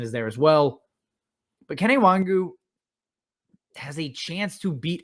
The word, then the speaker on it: Kene Nwangwu: First one on the list, Kene Nwangwu, and yes, it is how you pronounce it.